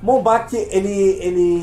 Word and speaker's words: Bombach: A pronúncia correta? Por quê? Como Na verdade, seria Bombach. Bombach, eu chamei ele aqui porque ele acho que